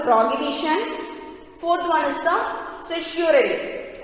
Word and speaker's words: certiorari: see here, habeas corpus, second one is the mandamus, third one is the prohibition, fourth one is the certiorari. How to pronounce this word? certiorari.